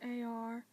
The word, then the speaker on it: Armagh: And then you've got Armagh, but it's spelled as A-R-M-A-G-H. But to break it up, you would pronounce it as the letter R, then Ma as in M-A, so you'd say Armagh.